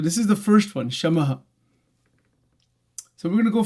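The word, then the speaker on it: शम: five this quality of shamaha shama It is not ka. It is s a m sha maha.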